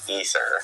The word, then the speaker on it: Aether: And then we learned that canon in Diablo I despite it being spelled AE t h e r it's actually pronounced ether uh thanks to uh